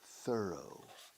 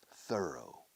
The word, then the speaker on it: thorough: Se pronuncia thorough. Preciosa palabra en inglés que significa esmerado, concienzudo, a fondo. Thorough.